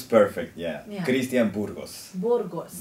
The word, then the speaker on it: Burgos: the incredible pleasure of sitting down with Christian Burgos from Mexico. Hello. 안녕하세요. 안녕하세요. Hello, Christian. Nice to have you. Did I pronounce your name correctly? It was perfect, yeah. Yeah. Christian Burgos. Burgos. Burgos.